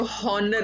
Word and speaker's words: honor: Honor, इसको honor नहीं पढ़ना. Honor, H is silent.